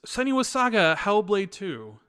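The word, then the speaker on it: Senua's Saga: Hellblade II: uh the game that I'm currently playing is sunny was Saga hellblade 2 you said it right yeah I know most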